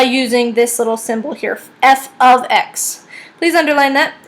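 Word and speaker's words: f(x): on the side here this is pronounced f of X it is not F times X definitely not x times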